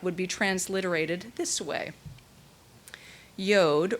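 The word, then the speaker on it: יוד: be transliterated this way yod rhyming with road which we transliterate as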